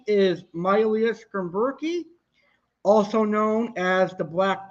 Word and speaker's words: Myleus schomburgkii: a complete idiot but i know how to pronounce this one scientific name is myelia skin berkey also known as the black barber like i